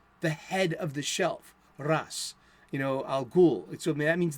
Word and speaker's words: Ra's al Ghul: Ras, Al Ghul. So that means the demon's head. So it's not Raish, it's not Raz, which is close. It's more like Ras.